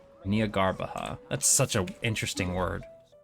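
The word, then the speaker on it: Jnagarbha: malt Nia garbaha day that's how they pronounce it so the J is completely completely silent Nia garbaha that's such an interesting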